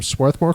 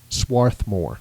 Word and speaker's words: Swarthmore: He has a degree in civil and environmental engineering from Swarthmore College. Swarthmore. Is that how you pronounce that? I always do it with the R silent, but there's a lot of debate about that.